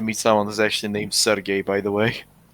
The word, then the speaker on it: Sergei: Sergey. Sergey, because he's gay. Yeah. Yeah, more like the Russian name.